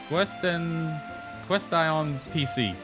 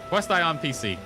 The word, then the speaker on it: Question PC: Quest Ion PC. Quest Ion PC. Or Question PC. There we go, Question PC. That's the actual way you pronounce that.